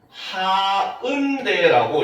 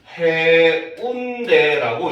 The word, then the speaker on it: 해운대: 해운대 이름을 영어로 표기하게 되면 어떻게 표기하냐면 ha un d 요렇게 표기를 해요. 알겠습니까? 그런데 외국 사람한테 요게 해운대 이름이다 하고 딱 보여 주잖아요. 어떤 사람은 하은대라고 읽고 어떤 사람은 해운대라고 읽습니다. 알겠죠? 즉 음절의 끝이 어디까지인지가 표기가 안 되니까 사람들이 읽는데 혼선이 생기더라는 거죠.